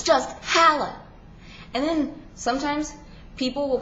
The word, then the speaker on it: Halla: My name's Halla. H-A-L-L-A. Halla. Not Halla, not Hella, not Halla. It's Halla.